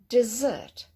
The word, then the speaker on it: dessert: Okay, dessert, dessert. So stress on the second letter.